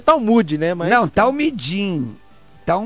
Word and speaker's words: Talmud: não sei não porque via de regra se pronuncia talmud né mas não dá